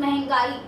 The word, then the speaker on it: महंगाई: यहाँ पर ऐसे कई शब्द हैं, महंगाई, लिखना महंगाई कहेंगे तो मे पर मात्रा नहीं होती, लेकिन महंगाई ऐसा उसका उच्चारण होता है।